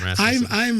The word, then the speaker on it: Rasmussen: Do you pronounce it Rasmussen or Rasmussen? It's an American Rasmussen.